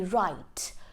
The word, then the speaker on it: write: So whenever W is followed by an R, the W becomes silent. So a few examples would be write, wrap, wrench.